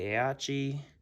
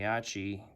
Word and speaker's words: Aichi: This is the Mitsubishi F1M2 and the, I think I'm pronouncing this right, the Aichi.